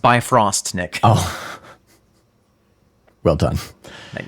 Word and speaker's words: Bifrost: It's pronounced Bifrost, Nick.